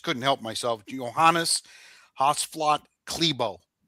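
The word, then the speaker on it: Klæbo: Johannes Hosla Klebo. That's how you say his name even though it's spelled C K L A E B O Klebo.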